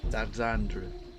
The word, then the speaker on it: Alexandre: named Alexandre it's like you don't pronounce the r it it's alandre and then it gets run